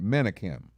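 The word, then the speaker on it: Menakem: name of resma uh it's spelled monokum but i think he pronounced him manikin he's an author who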